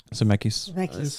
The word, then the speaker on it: Zemeckis: Robert Zemeckis.